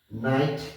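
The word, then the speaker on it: knight: হলো জানা আর জানলেই নলেজ বাড়বে knowledge yeah নাইট কে এন আই জি এসটি নাইট grade ব্রিটেনের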